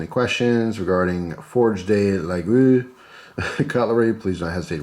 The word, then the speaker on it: Laguiole: The old pronunciation in Aquitaine was preserved. This is the reason why one says Laguiole. I think that was the other one. It was close to Laguiole, and you don't even pronounce the G.